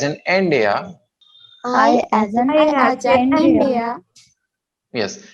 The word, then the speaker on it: India: No, India नहीं, India. N को लंबा खींचेंगे, Dia को छोड़.